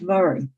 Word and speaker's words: Moray: james earl of moray he's also known as murray but i remember him as mori it's an easy mnemonic because you think of maureen hill it's spelled that way